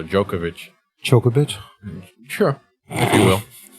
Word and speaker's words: Djokovic: Actually, I think the D is silent, so Djokovic.